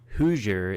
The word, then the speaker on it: Hoosier: International viewers or even those in the US hooer is a denym for anyone from Indiana and it's spelled h o o s i e r